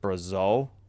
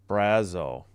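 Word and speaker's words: Brazeau: Is it Brazil? Justin Brazil. We should do this immaculate grid sometime, too. Brazo. Okay. The emphasis on the first syllable.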